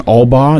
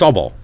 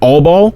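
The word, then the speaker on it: Albaugh: By the way, guys, he's saying Albba, not all ball. It's all ball. Allb. A lb b a u g h. Ball. All ball. You with me? No. It's It's pronounced Albball.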